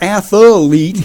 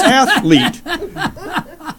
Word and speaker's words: athlete: No, it's not athlete, it's athlete.